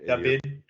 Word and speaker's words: David: David. Like David. The V is a B.